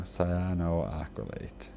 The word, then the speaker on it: cyanoacrylate: Am I pronouncing that wrong? Cyanoacrylate. Yeah, I always forget the L I think.